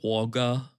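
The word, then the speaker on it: Wagga: Say it like in Australian. Waga.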